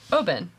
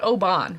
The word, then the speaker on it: Oban: toss-ups the softballs um open yeah I would also say open not obon right open perfect perfect it rhymes with open so it's it's one